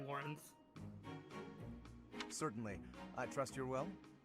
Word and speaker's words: Lorenz: Is it pronounced like the name Lawrence? It sounds like they just say Lawrence, but I always thought it was Lorenz because it's spelt so stupidly. No, I think it is like Lawrence.